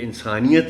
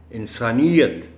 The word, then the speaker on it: انسانیت: انسانیت, اب یہ اس کا درست تلفظ آپ کو میں بتا دیتا ہوں, یہ انسانیت نہیں ہے, انسانیت, یہ پر شد ہے, خیال رکھیے گا, بس آپ سے ریکویسٹ ہے.